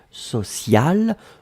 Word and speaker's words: sociale: Et donc le E à la fin, vous allez prononcer exactement de la même façon, social, mais vous devez quand même marquer le féminin puisque c'était directement lié au mot pression.